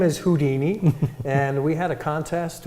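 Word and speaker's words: Whodini: And we thought this was very unique because it's spelled W-H-O-D-I-N-I, kind of like the who of an owl plus the Houdini.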